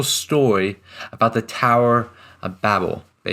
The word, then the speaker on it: Babel: about the Tower of Babel. Babel. It's actually Webster's Dictionary. You can pronounce it both ways.